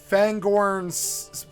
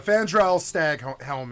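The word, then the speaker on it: Fandral Staghelm: fandr staghelm I I I butchered the name into my own creation I said fangorn uh I was I think I said it was either but yeah fandral stag Helm is what matters fandral stag Helm Malian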